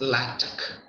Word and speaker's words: LaTeX: first map now here normally the latter is pronounced as lactic even though the spelling is similar to the